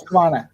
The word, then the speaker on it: Husqvarna: new robotic mower, it's in English, but the pronunciation is 100%. Cool. It's Husqvarna.